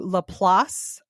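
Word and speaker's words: LaPlace: is gruesome we are going to llas Louisiana which is actually spelled like La Place uhhuh it's 25 miles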